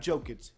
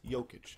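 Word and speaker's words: Jokić: I said it right this time. Not Jokic, Jokic. I got it right, I promise.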